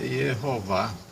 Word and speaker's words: Yehová: E a pronúncia dele é Yehová. Em português é Jeová.